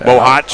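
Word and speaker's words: Bohac: It's spelled B-O-H-A-C, pronounced Bohawk. I've always known it as Bohawk.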